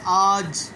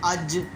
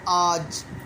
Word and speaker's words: آج: کھینچ کر پڑھ لیا۔ لفظ ہے آج، اب پنجابی کے اعتبار سے ہم اس کو کہتے ہیں اج، اور اسی طرح اردو کے اعتبار سے چونکہ صحیح تلفظ ہم نے کرنا ہے تو اس کے اوپر جو ہے وہ مد آ گئی ہے، تو اس لیے اس کو ہم کھینچ کر پڑھیں گے، آج، آن، آگ وغیرہ۔ نمبر 2 کھڑی زبر۔